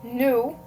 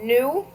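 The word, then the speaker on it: nous: So new Okay. So new which means us or we. So the o u is a combination of u and then s is silent.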